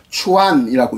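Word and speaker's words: 船: 내가 방금 안에 중국어, 네이버 중국어 사전 찾아보니까 선을 지금 현대 중국어로 추안이라고 읽어요. 우리는 선이라고 하는데 추안. 그런데 연은 아예 없어요.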